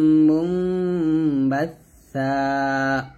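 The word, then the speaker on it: مُنبَثًّا: তাহলে হবে ফাকানাত হাবা মুনবাসসা। এই যে সার উচ্চারণটা, জিহ্বাটা উপরে দুই দাঁতের আগার সঙ্গে লাগাতে হবে, বাসসা। বাসসা বলা যাবে না, বলতে হবে বাসসা, এরকম।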